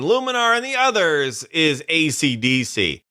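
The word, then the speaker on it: ACDSee: and the others is AC DC that's acd-se-e not spelled like the rock band and there's no cool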